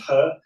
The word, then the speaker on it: He: I mean to give them is that was a confusing surname in in in Chinese but it's pronounced her.